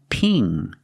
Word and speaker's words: pin: Pin and ping. Pin. Use the short I sound like this is. It's more open. Pin. And ping. Use the long E sound plus the ng in the back of the mouth.